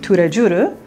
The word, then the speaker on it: Tous les Jours: Inside, they have an Asian French bakery, and it's called Tous les Jours, and they pronounce it Tous les Jours.